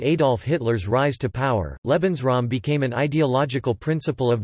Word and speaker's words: Lebensraum: The German concept of Lebensraum, German pronunciation, Lebensraum, listen, living space, comprises policies and practices of settler colonialism which proliferated in Germany from the 1890s to the 1940s.